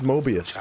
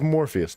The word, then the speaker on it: Morpheus: That's Mobius, dude. Colonel Monroe surrendered to General... Watch. Oh, it's Morpheus, not Mobius.